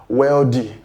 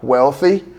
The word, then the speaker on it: wealthy: Many people pronounce these words as weldy. eldy. The correct pronunciation for these two words is number one, wealthy, and the other one, healthy. The th sound there sounds as not the or de.